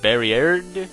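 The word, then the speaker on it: バリヤード: Mime species, his name in Japan is, by the looks of it, pronounced Barriered, which is pretty much a combination of barrier and weird.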